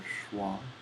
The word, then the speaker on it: Schwa: But it's pronounced like SCHWA, like the upside down E that is used for pronunciation demonstration or stuff like in dictionaries.